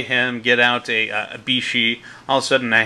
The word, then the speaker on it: Bixi: suani triple Beyond triple bixie I say bixie but I now know that this is actually pronounced Bishi and I think one